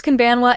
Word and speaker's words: こんばんは: Use konbanwa in the evening or at night. Like konnichiwa, the final ha is pronounced wa.